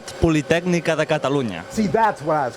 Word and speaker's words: Catalunya: Let's meet the team and give me the correct pronunciation in full huge big Spanish. You ready? I'm ready. Give it to me. Catalunia.